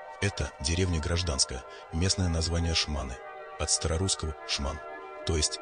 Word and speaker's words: Шманы: Это деревня гражданская, местное название Шманы, от старорусского «шман», то есть скиталец-бродяга. Под влиянием местного диалекта ударение в название ставится на последний слог, название произносится как «шманы».